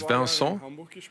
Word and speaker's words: Vincent: Well, actually, it's Vincent, but I played for Hamburg for 2 years, and it never worked out. It's hard to pronounce correctly for the Germans, so Vincent or Vinny, that's fine.